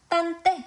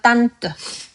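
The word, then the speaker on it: tante: 끝나는 것도 있어요. 여러분 이거에 발음하지 않고요. 맨 뒤에 요렇게 있어서 우리 그 바보 소리내는 거 으 으 이런 소리가 납니다. 딴떼 아니고요. 딴뜨 딴뜨 고모죠.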